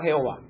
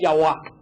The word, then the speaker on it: Jehová: Entonces, descarten la palabra Jehová, porque ningún judío puede pronunciar la palabra Jehová. Así que esa palabra está totalmente descartada. Lo que más cercano que pudo haber llegado a sonar es Yahweh.